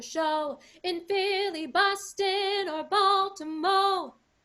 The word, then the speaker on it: Baltimore: in philly boston or baltimore it's supposed to be baltimore but they want it to rhyme with show so we say baltimo right so sing it